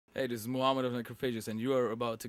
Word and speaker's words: Necrophagist: So if you want to pronounce it correct, it's like Necrophages.